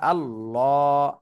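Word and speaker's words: اللهُ: কিন্তু ভুল হয়ে যাবে আল্লাহ শব্দের ডানে পেশ তারপরও চিকুন করে পড়তেছেন এজন্য ভুল হবে এখন আল্লাহ শব্দের ডানে জবর আর পেশ থাকলে মোটা করে পড়তে হবে এখন যেভাবে আমরা পড়লাম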